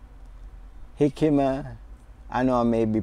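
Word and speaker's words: jicama: my number three is hikima hikima i know i may be pronouncing it wrong but you know i know that jay is silent so but i you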